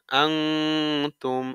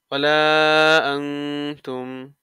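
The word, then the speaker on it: أَنَا: সাকিন হয়ে কলকলা হচ্ছে আনতুম আবিদুনা মা আবুদ আবুদ লা বাতিন আলিফ ওয়ালা আনা এই যে আনা শব্দ ঠিক আছে ওয়ালা আনা এই আনাটাই ওই যে আনা শব্দ টানতে মানা ওই টানতে মানার ওই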